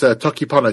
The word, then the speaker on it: Toki Pona: Well, if I'm pronouncing it correctly, it's Toki Pona, Tokipona, which was invented not long ago, actually, by a woman called Sonia Lang.